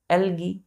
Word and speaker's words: algae: ए है तो इसका प्रोनंसिएशन क्या करेंगे हम एलगी दूसरा एलगी यहां ध्यान दीजिए बच्चों सिंगुलर यहां